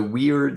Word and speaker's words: weird: So weird here, I'm pronouncing it a little weirdly because it doesn't mean weird like strange. It's a Scottish variation on an Old English word. And basically it means those who control the fates. I believe it's a diphthong, which is a funny word. But basically, you can see how it's spelled.